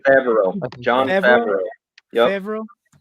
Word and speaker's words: Favreau: John Farva, that's how you Yeah. say his name, right? Favreau.